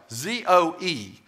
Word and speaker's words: zoe: And the word life here is the Greek word zoe, Z-O-E. It's spelled Z-O-E, and it's pronounced zoe.